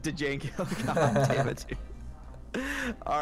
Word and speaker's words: Django: pronounce the D in Django Unchained? Yes. Django.